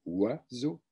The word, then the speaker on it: oiseaux: i mais on dit oiseaux même chose pour le s que l'on prononce comme un z le plus le plus